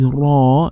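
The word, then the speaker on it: ر: Okay, ra, this is ra, has a repetition, not ra like in English. No, we will say ra with repetition.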